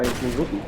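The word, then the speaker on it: RWBY: That's That's cool. how it's spelled, R-W-B-Y, Ruby.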